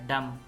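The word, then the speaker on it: dumb: column column सोलम संजीदा डम यह डम है इसमें भी बी साइलेंट है डम गूंगा थम अंगूठा बम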